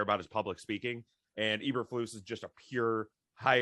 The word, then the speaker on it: Eberflus: Eberflus. I told you guys every single day this week, Eberflus is coming out of my mouth because that is the way you pronounce it.